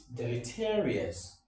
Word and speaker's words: deleterious: Number four is deleterious. Deleterious, from the word delete. If you look at the first six letters, they form the word delete. So delete, and then you have altogether deleterious.